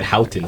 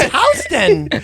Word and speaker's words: Houston: He said Houghton. It's Houghton. It's Houston. I didn't say to change how you pronounced it. It's Houston with no T, Houston. is what I said.